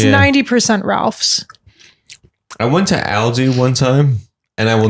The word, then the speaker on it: Aldi: Ralph's I went to Aldi one time and I will never do that again how do you say it Aldi Aldi oh Aldi I went to Aldi